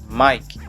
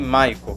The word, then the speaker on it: Mike: m que corresponda fonema mike sempre lembrando que mick não é me que nem mico como também já vi por aí logo após isso nós